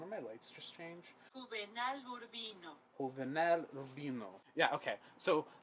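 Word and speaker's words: Juvenal Urbino: should have prepped because the J makes the H sound I'm going to look up the pronunciation did one of my lights just change huel Rino yeah okay so it's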